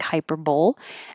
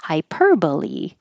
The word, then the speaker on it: hyperbole: I have to think hyperbowl and then when I see it and I read it I have to think don't say hyperb say hyperbole hyperbole isn't that weird turquoise